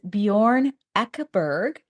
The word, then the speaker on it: Bjorn Ekeberg: His name is Bjorn Ekeberg. I pronounced it right, didn't I, Bjorn?